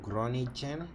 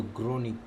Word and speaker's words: Groningen: Groningen, pronounce as Groningen. Oh my goodness, Groningen, something like that. Thank you so much. EJYM, do your name have like a pronunciation? Because I'm reading the letters like that. So Groningen. Somehow that's G. It's coming out as a J on my end.